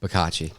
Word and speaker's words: Bicocchi: how do you pronounce your last name? Bicocchi.